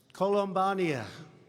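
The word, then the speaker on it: Columbiana: I especially want to thank, this is such a beautiful place, Columbania. Okay, that's the way you really pronounce it.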